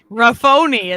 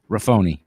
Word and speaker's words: Raffoni: a last name raffoni rafoni is his last name rafoni mr riffony yeah it's usually it's usually mispronounced as rafon but rafoni is it french it's